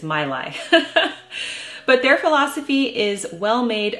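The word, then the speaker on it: Maileg: brand of children's toys I have been pronouncing it incorrectly for several years I've been calling it mle that's wrong it's my lie but their philosophy is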